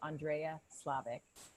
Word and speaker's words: Szlavik: And I'm super excited to be bringing you Andrea Szlavik. And I hope I pronounced your name right, hon.